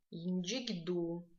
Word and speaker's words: Янджигду: Янджигду. Это река Большой Зеленчук. Янджигду. Здесь нам тоже стоит обратить внимание на звук Дж, который пишется как ДЖ мягкий знак, и звук Г, который пишется как Г мягкий знак.